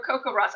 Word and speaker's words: CoCoRaHS: had to show this one cuckoo for coco ross i was wondering how you pronounce that um acronym so i'm glad i